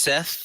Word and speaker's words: Seth: really Place him oh it's Seth the guy that left so yes that's the guy who's missing I thought it was Heth yeah I'm sorry that's me mispronouncing things it's okay it is